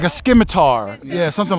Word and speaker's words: scimitar: Yeah, like a skiitar. Yeah, something like that. Scimitar. Scimitar. So the C is silent.